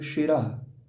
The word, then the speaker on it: शिरः: होता है मूर्धन्य स्व, एक होता है दंत स्व। लेकिन हम लोग सिर बोलेंगे दंत स्व वाला, और हम लोग बोलेंगे शिरः, मतलब कि आवाज ऐसी निकालेंगे, शौ की उच्चारण ऐसे करेंगे जो कि हमारा तालव्य स्व उच्चारण हो, शिरः, ठीक है।